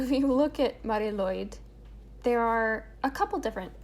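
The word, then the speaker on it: Lwyd: to the language thing lloyd is spelled l-w-y-d what the is that what why i'm sorry yeah i'm gonna move on i promise but there's no i don't know there's no vowels they never use vowels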